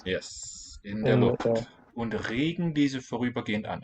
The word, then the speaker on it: Regen: Und regen diese vorübergehend an. Regen has a long one, long vowel.